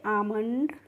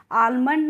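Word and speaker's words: almond: यहां पर जो फ्रेंड्स एल होती है, एल ए के बाद इसको हम क्या करते हैं? साइलेंट रखते हैं। यानी कि इसको पढ़ा नहीं जाता। इसीलिए इसको हम आलमंड नहीं पढ़ते हैं। क्या पढ़ते हैं? आमंड।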